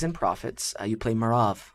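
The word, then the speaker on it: Merav: from of kings and Prophets uh you play marav right is that the correct way to say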